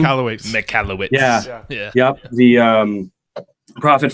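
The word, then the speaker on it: Michalowicz: And then all the stuff by Michael how do you pronounce his last name? McCallowitz.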